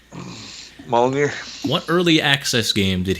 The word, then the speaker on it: Molyneux: Is it Peter Molyneux? How do you pronounce it? Yeah, Molyneux.